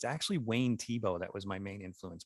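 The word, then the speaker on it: Thiebaud: but what's really interesting is it's actually wayne tebow that was my main influence back then wayne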